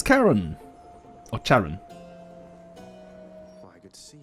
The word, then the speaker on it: Charon: Charon, yeah, it is Charon. It's not Charon.